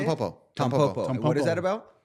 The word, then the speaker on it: Tampopo: Tampopo.